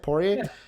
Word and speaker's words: Poirier: Poirier?